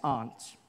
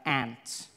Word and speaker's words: aunt: you by for instance I pronounced the opposites of Uncle as aren't I say my arms out here you say my aunt which to me is